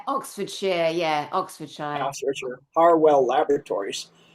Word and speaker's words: Oxfordshire: No and Oxford Sher uh Oxford Shshire is that correct? Yeah, Oxford Shere.